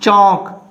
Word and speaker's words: chalk: Chalk, L is silent.